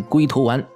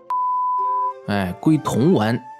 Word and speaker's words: 龟童丸: 龟童丸啊，一定要发音正确啊，特意给你们示范一下错误发音。